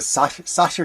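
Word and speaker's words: Sacher: a place called The Sasha Cafe and my German pronunciation is not as good as it used to be s-a-c-h-e-r is the way it's spelled right behind the opera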